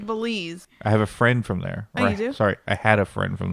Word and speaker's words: Belize: Yeah, You can't even pronounce the country. It's Belize.